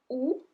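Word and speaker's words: houx: Du ou, so we don't pronounce the H, neither the X.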